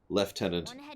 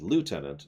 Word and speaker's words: lieutenant: of those weird things usually have multiple pronunciations as in multiple correct pronunciations left tenant and Lieutenant is a good example